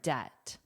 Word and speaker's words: debt: It means more debt. And notice the pronunciation of debt. Debt. The there's no B. It's there for spelling but not for pronunciation. So it's a silent letter.